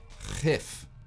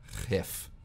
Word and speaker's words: gif: said, Spoon of Doom, GIF with a rolling G. How many people pronounce it in Dutch, because it's already an existing word meaning poison. Ready? GIF.